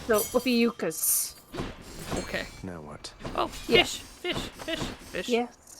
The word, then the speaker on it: Ophiuchus: Thank God I found something that actually shows up how to pronounce his name. So Upiuchkas.